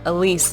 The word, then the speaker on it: Elise: I gotta remember Elise. That's how Wait. you pronounce her name.